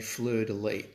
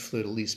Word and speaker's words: fleur-de-lis: Now, interestingly, it's actually pronounced fleur-de-lis, but I think fleur-de-lis sounds sort of a bit more romantic, so I'm going to still call it fleur-de-lis, although technically it is fleur-de-lis.